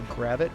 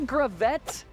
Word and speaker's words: Gravette: includes a quaint little town with a commonly mispronounced name whose motto is the heart of Hometown America welcome to gravit Arkansas that's right my friend welcome to gravit Arkansas not gravet not gravit and I might even call it